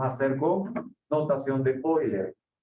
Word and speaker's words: Euler: Esta representación de R, E a la I, teta, viene por un matemático llamado Euler, se escribe Euler.